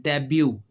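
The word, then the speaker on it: debut: हो जाता है और यह इसमें भी टी साइलेंट है डेब्यू डेब्यू करना होता है कि अपने काम का आगाज जैसे अगर क्रिकेट में एग्जांपल दे देता हूं।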